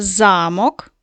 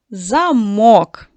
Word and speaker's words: замок: Щойно зміниш ти наголос слова, цим одразу будову замкнеш. Скажіть, будь ласка, про що тут йдеться мова? Вірно, діти. Перша частина загадки - це замок, старовинна будова, а замикаємо ми замок. Вірно, дітки?